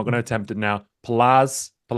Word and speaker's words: Palasz: to attempt it now palaz did I get that right paash in Polish Paz in English there you go how